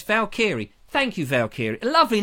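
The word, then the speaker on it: Valkyrie: what that really means Val kiri oval kiri there we go you see it's easy when it's ER when it went you know put phonetically it's very easy sorry felt kiri fell kiri there we are it's Val kiri Thank You Valkyr lovely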